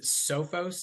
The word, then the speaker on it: Sophos: you do with uh is it sofos is that how you pronounce it so folks yeah so